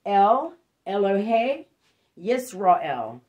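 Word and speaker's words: El Elohe Israel: so it's pronounced el ello hey israel all right it's the name of the altar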